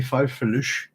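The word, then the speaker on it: faufreluches: I've been doing a bit of reading, and I think also I would be pronouncing it wrong. That it should be fauvrelux, and in fact there is a French word which is fanfreluche.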